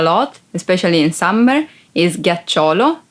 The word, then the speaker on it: ghiaccio: Ghiaccio. Ice. Ghiaccio. Ice. Be careful because if you don't pronounce G as a hard sound like G, it would be giaccio, that it's a verb and means lie down.